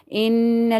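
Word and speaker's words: إِنَّ: Inna, now here there is gunna. Inna, no, it's not. You're not going to take the sound of this noon into the nose. Why? Because you have to do gunna here.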